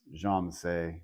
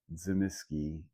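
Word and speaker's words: Tzimisce: I was told by a person of Russian and Wallachian extraction that the word is pronounced Jamasay, not Zimiski, but everyone says Zimiski.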